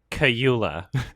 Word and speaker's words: Kaluuya: And what I really love about the acting in this movie is like Daniel Kaluuya and Lakeith Stanfield.